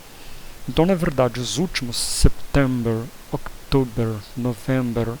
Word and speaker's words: September: O September, você vai pronunciar o P. Então é bem parecido com setembro, só que tem um P no meio. September.